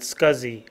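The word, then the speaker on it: SCSI: hard drives are parallel ATA Theta as is pronounced Serial ATA SATA and scuzzy S CSI external hard drives can connect to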